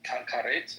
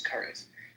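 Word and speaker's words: כרת: The only thing that's close to it is what karet, or what I pronounce as kares.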